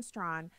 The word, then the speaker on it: Straughan: Right now, it's my pleasure to welcome Karen Straughan, and I think I'm pronouncing her name out. She'll have to correct me. Karen Straughan, spokesperson for the Men's Rights Edmonton.